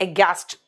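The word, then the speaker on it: aghast: लेकिन इसका प्रोनाउंसिएशन है एगैस्ट।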